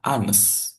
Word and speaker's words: honest: Jadi kalau tulisannya hones walaupun depannya H. H kan harusnya ikut yang bagian A W O. Tapi karena cara bacanya anes jadi hnya hilang menjadi anes itu berubah menjadi an honest man.